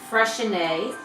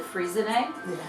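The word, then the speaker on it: Freixenet: cava from spain and it's called freshen a for my whole life well since my adult life i always called it freezing but i actually looked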